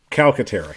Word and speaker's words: Calcaterra: How do you say his name? Calcaterra, right? Grant Calcaterra. Calcaterra, yes, that's right.